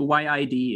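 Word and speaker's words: yid: tibetan e mind it y-i-d is how you write it in the tibetan kind of romanization system which is very imperfect but it's just pronounced yi y-i and it also rides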